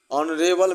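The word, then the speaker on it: honourable: 66 ही is dash ऑनरेबल मैन। ऑनरेबल देखिए एच से तो शुरू है कंसोनेंट लेटर से, लेकिन इसका प्रोनाउंसिएशन वॉवेल का आ रहा है ऑनरेबल, और से लिखा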